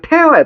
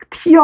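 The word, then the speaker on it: tear: 이거 태어야. 태어. 요거 발음 알려 줄게. 눈물 아니야? 알겠지? 어, 선생님 이거 눈물 아니었습니까? 진짜 그래마 초었음. 어, 티어 아니야. 태어야.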